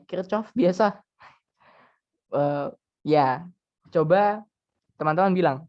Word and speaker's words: Kirchhoff: Saya lupa ya Hai Jerman beliau tuh Jerman membaca namanya sebenarnya adalah keysoft Bacanya adalah kircoff mungkin guru teman-teman bisa